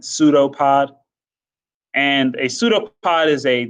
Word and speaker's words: pseudopod: is called a pseudopod the p is silent the first p is silent pseudopod and a pseudopod is